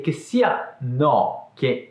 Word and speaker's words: no: Fatta questa introduzione, a livello di pronuncia, la O del no è aperta, mentre quella del non è chiusa. No, non.